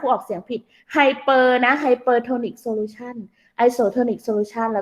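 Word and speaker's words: hypertonic: แรก Hyper นะ ออก เสียง ผิด Hyper นะ ไฮเปอร์โทนิก solution ไอโซทอนิก solution แล้ว ก็ ใคร โปร อ่ะ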